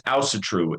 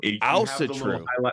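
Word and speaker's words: Ásatrú: No, so it's Asatru. Asatru. The little apostrophes that go over the A and the U.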